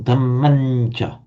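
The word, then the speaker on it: dhammañca: Because of the influence of the following ch, it's pronounced as a nasal. So you can write it as an M with a dot underneath, but you pronounce it damancha.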